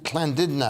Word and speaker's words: Llandudno: How do you pronounce that? Uncanny. Llandudno.